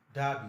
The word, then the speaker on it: Derby: Derby, not Derby. It's Derby. Derby. Derby. I say Derby. Derby is a long R.